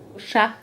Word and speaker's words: Chah: "Chah" refers to the Shah of Iran. I could have written it with an "Sh" as in English or a "Ch" for the French pronunciation.